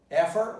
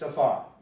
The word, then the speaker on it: afar: But here, the stress is on far, so what's the word going to become? Well, you can predict it. Pronounce it. Did you pronounce it afar? Effort would have been wrong. It's afar. You kept the stress.